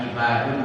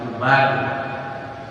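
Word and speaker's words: عِبَادٌ: Jadi kalau bacanya bisa ibadun, bisa ubadun. Ibadun berarti wazannya fi'alun, fa'lun, fi'alun, abadun, ibadun.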